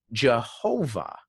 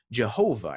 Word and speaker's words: Jehovah: were germanizing it and the y turned into a j because there's no j in hebrew and that's where you get jehovah jehovah is sort of this germanicized anglicized version of yahuwah but once again no